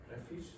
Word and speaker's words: refuse: Refuse and refuse. Okay, refuse means that you won't do it. You say, I'm not going to do it. And refuse is what? When you put your rubbish. Yeah, it is the rubbish. Okay, refuse is rubbish.